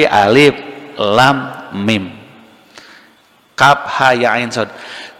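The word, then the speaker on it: الم: Maka di antara mujizat itu adalah tidak mampu akal manusia langsung mencapai memahami, seperti tidak langsung paham kenapa alif lam mim tidak dibaca alama. Dibacanya bukan alama kan, tapi alif lam mim.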